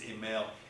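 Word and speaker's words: Émile: He wrote the book um EML. It's actually I I can't get the French role. Do you speak French chains? Okay. Well, it's ML. It's Emily is how it's spelled.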